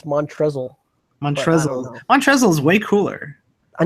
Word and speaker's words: Montrezl: They always say Montrell, but I always think it's Montrezl.